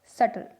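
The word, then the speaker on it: subtle: जब B किसी spelling में T से पहले आए, जैसे डैट, डाउट, सटल। इनमें T से B पहले आ रहा है और B साइलेंट है।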